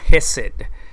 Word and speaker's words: Hesed: La palabra en el hebreo, si no me equivoco, es la palabra Hesed. Se escribe H-E-S-E-D y es el amor de Dios que describe lealtad, que describe un amor el cual continúa persiguiendo al hombre.